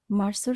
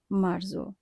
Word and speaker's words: marzo: আমরা উচ্চারণ করব মার্সো, বলবো না মার্জো।